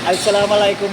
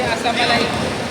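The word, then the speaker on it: السلام عليكم: yan an si Salam mali nga yung ano mo eh bigkas mo langang asam alikum assalam alikum yun Hindi asam alikum asam alikum eh may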